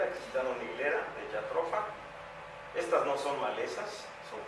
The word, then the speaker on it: Jatropha: de Belice, de Guatemala, para evaluar la famosa jatropha, porque así se pronuncia, Jatropha curcas, una euforiácea cuyos aceites tuvieron un gran impacto para la producción de biodiesel.